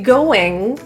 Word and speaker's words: going: What's going on? This is a more informal way of starting a conversation. With the going word, we're ending with a very soft nasal sound rather than a hard G. Going.